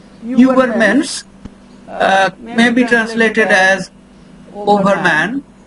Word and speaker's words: Übermensch: Where you round your lips and try to pronounce E, then the sound that comes is U. So that is the German U. Übermensch may be translated as overman in English.